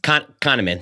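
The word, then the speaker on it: Kahneman: Daniel how do you say his last name conaman conaman that's right conaman there was stuff about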